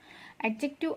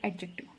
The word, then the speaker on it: adjective: Adjective of numbers are cardinal, ordinal, indefinite numeral and distributive numeral adjective. Okay, here D is silent, pronunciation is adjective.